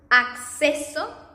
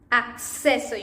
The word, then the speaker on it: acceso: And in double C, you are going to pronounce this double C in Spanish as you pronounce the X in Spanish, in English.